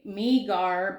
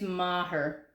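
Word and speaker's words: Meagher: But it's Thomas Francis, and if you were reading it, you would say Megar or Megar, but that's not how you say it in English. It's like Thomas Maher. I think it's Maher.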